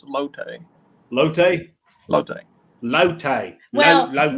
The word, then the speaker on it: latte: Daddy keeps saying it wrong. It's lotte.